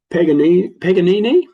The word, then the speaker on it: Paganini: This is Swiss band Paganini, that's how you say it, Weapon of Love.